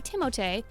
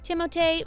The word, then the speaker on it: Timothée: Timothée Chalamet. Hey, what's up guys? My name is Timothée Chalamet. Timothy, or as the French say, Timothée, doesn't mind if you call him Doug or Alex.